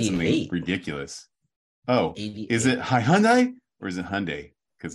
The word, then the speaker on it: Hyundai: you said something ridiculous oh is it hi Hundai or is it Hyundai because I don't know look at the spelling it's hyai it's Hyundai yeah but it's pronounced Hyundai yeah no it's pronounced Hyundai let's watch a commercial in Korean and see